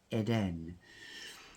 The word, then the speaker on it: Eden: because I love Cashel it is Eden or as the French pronounce Eden this this is so